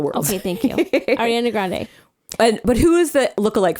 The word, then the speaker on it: Grande: But so rest assured, we agree with you on pronouncing it Grande, and so does the rest of the world. Okay, thank you. Ariana Grande.